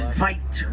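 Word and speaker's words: wyd: The mouth is wide, and the Afrikaans word for wide is veit with a V.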